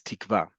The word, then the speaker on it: Tikva: Number one, to make the differentiation between kaf, and kuf. In modern Hebrew, again, kaf and kuf can sound alike, but also in modern Hebrew, kuf can also be hof, way in the back of your throat.